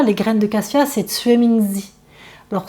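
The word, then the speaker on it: juemingzi: Et en chinois, les graines de cassia, c'est Tsue Mingzi. Alors Tsue Mingzi, ça s'écrit J-U-E. Ça se dit Tsue, ça s'écrit Jue.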